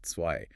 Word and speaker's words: zwei: Pay special attention to the pronunciation of zwei with that sharp TS sound, wir, the F sound, and of course the tricky 12.